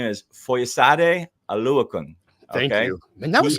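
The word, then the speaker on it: Foyesade Oluokun: His name is Foyesade Aluakun.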